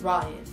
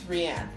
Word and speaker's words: Rian: So, Rian, we pronounced Ryan, it's Rian. And the Stonewood is a Gelfling clan and not the castle that the Skeksis live in.